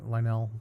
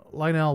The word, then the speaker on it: Lionel: that Lionel, Lionel, uh I think that's how you pronounce his name, Lionel, like the trains.